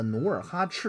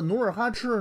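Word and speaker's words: 努尔哈赤: 老荡，还有着这个努尔哈赤的碑上边提到清太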